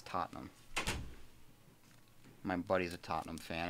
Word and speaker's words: Tottenham: Excuse me, it's Tottenham.